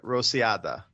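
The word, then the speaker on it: Rociada: Um, how do you say this? Rosilanda or Roilanda or R O C I A D A Rosiada.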